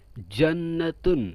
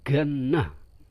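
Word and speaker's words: جنة: ta kemudian huruf Jim huruf Jim ini ada yang membaca dengan huruf g ini dalam bahasa amiah Mesir Contohnya apa contoh ya rojulu ya rojul Mesir dibacanya ya rogul bukan ya galak Bro Waduh serem Bro kalau galak ya jannatun surga dibacanya amiahnya genah ini dalam amiyah Mesir ya selanjutnya selain dibaca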